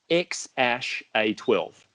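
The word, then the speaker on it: X Æ A-12: we've I've learned that it is pronounced ex ash a 12 ok X a 12 so California state constitutional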